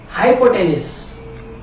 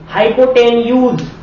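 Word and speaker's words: hypotenuse: चार बार बोल दिया मैंने हाइपोटेन्यूस हाइपोटेन्यूस कुछ भी बोल सकते हो आपकी मर्जी है ठीक है हाइपोटेनस है ये हाइपोटेनस हाइपोटेन्यूज कुछ भी बोलते हो।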